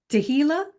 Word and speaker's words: Tehilla: So this wonderful lady right here is Tehilla.